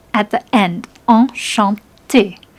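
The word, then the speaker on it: enchantée: Enchanté. If you're a man, it's enchanté. You don't actually pronounce the E, but it's there in writing.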